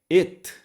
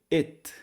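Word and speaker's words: אֵת: It, a consoante nós não pronunciamos, o Aleph, então pronuncia apenas o sinal vocálico debaixo dela.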